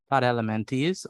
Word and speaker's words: Platyhelminthes: P-L-A-T-Y-H-E-L-M-I-N-T-H-E-S. How do you pronounce that?